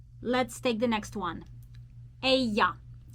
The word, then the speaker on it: ella: Ella. Ella. Double L in the Spanish language is pronounced as y.